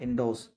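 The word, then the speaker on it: endorse: इंडोर्स इंडोर्स क्या बोलेंगे इंडोर्स आर हमारा साइलेंट है इसमें इंडोर्स ना कि इंडोर्स कहेंगे we will tell इंडोर्स इंडोर्स सामर्थ र्थन करना या अनुमोदन करना।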